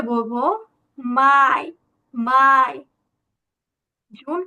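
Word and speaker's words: Mai: তারপর মেকে কি বলবো মেকে কিন্তু আমরা বলবো মাই মাই মাই ইয়া মাই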